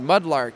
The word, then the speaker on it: Mudlrk: And so I just dropped the A and kept the R, so it's still pronounced the same way phonetically, but looks a little bit more interesting, maybe easier to trademark.